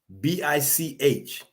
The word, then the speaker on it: Bich: BICH is pronounced BIC.